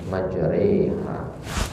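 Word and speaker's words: مجريها: ini disbutnya imalah kubur asal katanya adalah majru ya majru ha ya tapi di ayat ini dibacanya majriha sebelum kita ke situ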